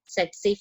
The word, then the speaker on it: tsetse: T here is silent. That's why we pronounce it as tsetse flies.